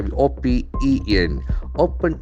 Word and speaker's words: open: The pronunciation of letter O is very important. open, Open. O sound is very prominent. O, go, no, home, bone, phone. O sound. Open. Open. It's a diphthong basically.